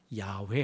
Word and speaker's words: 야훼: 여호와 란 말이 나왔는데 본래 발음은 야외 입니까 하나님의 이름이 유일하신